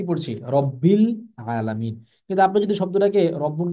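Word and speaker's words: رب العالمين: শব্দের সঙ্গে মিলিয়ে পড়ছি তখন কিন্তু আলিফটা আমরা উচ্চারণ করছি না আমরা কি পড়ছি রব্বিল আলামিন কিন্তু আপনি যদি শব্দটাকে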